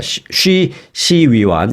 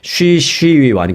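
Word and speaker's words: 徐熙媛: 쉬 시위완. 이거 한국 발음하면은 서희원입니다. 그러니까 제가 중국말을 잘 못해서 중국 발음으로 하려니까 쉽지 않은데 쉬 시위완.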